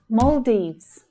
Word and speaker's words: Maldives: Not the Maldives, but Maldives, Maldives. The or, as in door vowel sound, is the stressed sound. Then you hear the long E vowel sound in the second syllable.